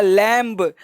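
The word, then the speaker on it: lamb: अब देखो लिखा है लैम्ब, comb, tomb, dumb, thumb. अब ऐसे लोग बी है तो बी पढ़ना पड़ेगा, लेकिन कॉन्सेप्ट कहता है कि एम के बाद, देखो एम के बाद और एम के बाद बी, कौन सा वर्ड? बी प्रायः साइलेंट होता है।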